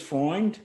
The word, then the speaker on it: Freund: going to just discuss a paper by jules foreign that's spelled f-r-e-u-n-d and catherine mcdermott from 1942 which